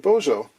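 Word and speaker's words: Božo: we know about him that's a Serbian name it's spelled like Bozo but there is an accent which you know modifies the Zed or the z sound into a soft J he was kind of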